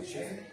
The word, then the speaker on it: Sheafy: Sheafy?